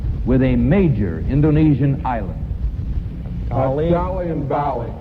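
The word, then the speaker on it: Dalí: For 10 points a piece, identify the contemporary Spanish-born painter whose last name rhymes with a major Indonesian island. Valley and Bali.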